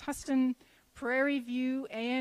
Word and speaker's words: Huston: attended several colleges wiley sam houston or huston actually i think it's pronounced huston prairie view a m